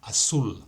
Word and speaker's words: azul: El sonido único de la consonante Z, Z, se pronuncia con este carácter como en azul, azul. Habíamos visto que esta letra se pronuncia como las letras TH en la palabra thanks en inglés.